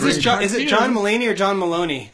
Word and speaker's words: Mulaney: John Mulaney er John Maloney how do you say his name its Mulaney Mulaney is meeting you he